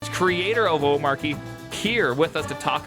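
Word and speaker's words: Omarchy: in here is that the pronunciation is Omachi. Okay, so what happened to the R? Where did the R go in that? You swallowed it as a proper Dane.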